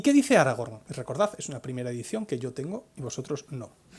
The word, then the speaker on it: Aragorn: Y fijaos que he conseguido decir Aragorn y no Aragorn, como aquellos que leímos el libro al principio y no sabíamos cómo se pronunciaba, ¿verdad? Aragorn, capital Zaragoza, pues lo mismo.